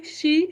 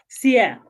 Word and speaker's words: Cie: Is it she? How do I pronounce it? Yeah, it's CIE. Sia.